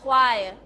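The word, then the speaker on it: choir: แล้ว ก็ เอ่อ เน้น หนัก ที่ คำ ว่า quire quire quire ออก เสียง สิ คะ quire quire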